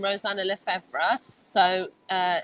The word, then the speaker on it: Lefevre: search my name Rosanna levra so uh it's spelled r o s a n a l e f e v r e Rosanna lra um I'm